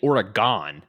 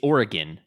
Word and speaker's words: Oregon: no no no no I made fun of you for saying origon it's Oregon yeah it's not or you're